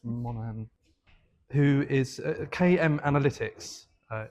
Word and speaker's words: Monaghan: Um and I've just double checked how how to pronounce Kira's surname and it's Monahan. Okay. It's not Monogun, it's Monahan.